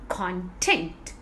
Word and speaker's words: content: So always remember, when there is a name or quality, you need to stress on the first syllable. When there is an action, then you need to stress on the second syllable.